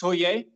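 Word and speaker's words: 서예: Yeah, I've been doing Shodo, or in Korean it's pronounced Soye.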